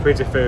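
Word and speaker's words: Puy du Fou: This is meant to be the English version of Puy de Fou, essentially.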